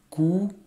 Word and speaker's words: cours: Cours. Ici le S, il est écrit de telle sorte qu'on ne le prononce pas, c'est un S muet, donc ça fait cours.